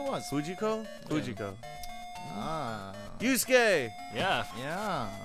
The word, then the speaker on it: Yusuke: Yusuke! Yeah. Yeah. I remember my friend always used to pronounce it Yusuki.